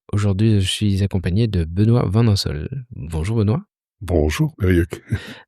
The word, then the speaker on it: Benoît: Aujourd'hui, je suis accompagné de Benoît Vanhonsel. Bonjour Benoît. Bonjour Eric. Alors, pas besoin de prononcer le C pour mon prénom, j'insiste.